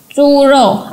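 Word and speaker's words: 猪肉: Dan ini bacanya churo, artinya daging babi.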